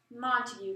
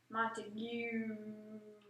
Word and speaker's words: Montague: Sir, I would just like to inform you that it's Montague, not Montague.